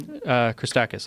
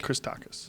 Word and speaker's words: Christakis: Christakis, I think. Christakis.